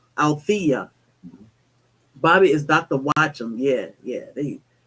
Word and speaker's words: Althea: Alethea. Did I pronounce that right? Althea. No, it's Althea. Althea.